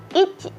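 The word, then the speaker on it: いち: Ya teman-teman lihat di tabel di sini ada angka, kemudian kanjinya, kemudian ada romajinya atau cara bacanya dalam huruf alfabet. Kita mulai dari angka 1. Angka 1 kita baca ichi.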